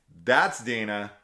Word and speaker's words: Dina: In that, we're gonna play the game, and it's gonna be pronounced Dinah.